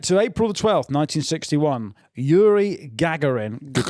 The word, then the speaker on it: Gagarin: Yuri Gagarin Gagarin Yuri in uh he orbited the I believe that's how you pronounce it in the Russian.